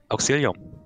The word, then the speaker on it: Auxilium: Auxilium. Ah, ja. Hab ich's richtig ausgesprochen? Ja, du hast richtig ausgesprochen, deswegen.